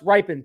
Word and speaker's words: Rypien: going to be uh it's pronounce ripen thank you very much appreciate that